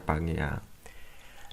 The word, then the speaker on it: Pangea: Ini bacanya Pangea.